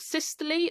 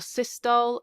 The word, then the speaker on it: systole: how you pronounce it, atrial systole or systole, and ventricular systole or systole. Different people pronounce it different ways, but it means the same thing.